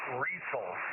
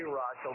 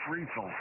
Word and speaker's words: Riesel: KD5Q here in Central Texas, and it is pronounced Riesel. A lot of people say Riesel, but it's Riesel.